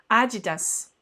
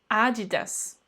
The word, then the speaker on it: adidas: fait il ya une petite et un petit prononciation une petite accentuation qu'il ya peu de différence adidas adidas je te laisse et oui c'est pas haribo